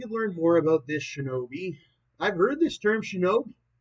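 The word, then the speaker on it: 忍び: In the native kunyamai reading, it is pronounced shinobi, a shortened form of shinobi no more.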